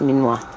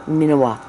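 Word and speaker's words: miniwaa: here wrong m-i-n-i-w-a-a yes but it can be pronounced meanwhile or minawa it it kind of goes both ways spell uh negating and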